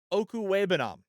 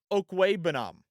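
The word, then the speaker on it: Okwuegbunam: Last tight end to keep an eye on is Albert Okuwebanam. That's how you say it, by the way. Actually, I think that's a little over enunciating. Albert Okuwebanam, I think is how you say it.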